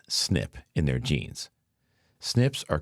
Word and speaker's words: SNP: Exposure to BPA created a single nucleotide polymorphism or SNP pronounced snip in their genes.